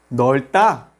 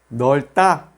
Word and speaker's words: 넓다: Ahora, 르, solamente pronunciamos la primera consonante 르. 넓다, que significa ser espacioso. Repite conmigo. 넓다.